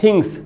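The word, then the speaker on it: things: दोस्तों साइंस यहां जो जैसे हम थिंग्स बोलते हैं उसमें जो एस लगाते हैं अक्सर हम लोग सब पढ़ते हैं उसको उसे सा नहीं सर का साउंड बनेगा इस वर्ड में और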